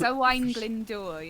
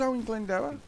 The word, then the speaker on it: Owain Glyndŵr: Oh, it's Owain Glyndŵr, yeah. I thought it was Owen Glendower.